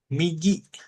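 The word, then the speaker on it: 右: kiri artinya e bacanya hiidari. Oke, kita yang kanan sekarang. Kanan migi.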